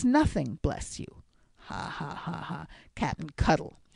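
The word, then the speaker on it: Cuttle: of man is Captain cuddle said Mrs MC Stinger with a sharp stress on the first syllable of the captain's name to take on for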